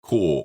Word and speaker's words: CORPS: have a copy of Core or Corpse depending on how you want to pronounce it.